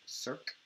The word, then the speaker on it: circ: This thing right here is pronounced circ.